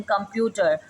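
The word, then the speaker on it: computer: Then कंप्यूटर, के M pewter, P पर हमारे पास स्ट्रेस आता है तो हमने ये उसके ऊपर स्ट्रेस का मार्क लगा दिया। यू की साउंड आ रही है, ठीक है, कंप्यूटर, तो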